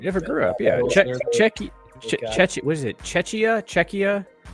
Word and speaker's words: Czechia: Czechia. What is it? Czechia. Well, because they changed the way that they spell and pronounce the name in sports now, so it's like Czechia.